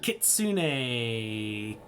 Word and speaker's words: kitsune: Kitsune, Kitsune.